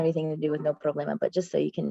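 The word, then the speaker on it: problema: So tonight you can know there's actually no problemma instead of no problemmo. Even though it rhymes when you say no problemmo, right? That's why people say it. So the answer is no problemma because problemma even though it ends in an ma it's a masculine word right?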